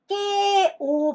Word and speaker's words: kẹo: " kẹo" 발음 입니다 .